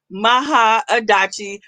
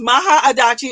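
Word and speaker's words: Mahaadachi: uh so it's it's it's pronounced phonetically in the way it's spelled m-a-h-a-a-d-a-c-h-i maha adachi that's what condom for god's daughter so don't try her okay but it is maha adachi on all platforms everywhere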